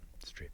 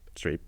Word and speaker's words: Streep: Tom Hanks metal strip settle you pronounce that Streep Streep Meryl Streep Bob ode forget it quite the cast I speak of none other than the post directed by mr.